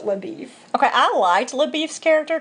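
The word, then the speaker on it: LaBoeuf: But in the movie they pronounced it LaBeef. And in the book they said they pronounced it LaBeef.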